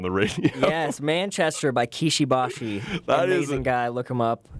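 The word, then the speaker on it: Kishi Bashi: It's Japanese, so it's Kishibashi.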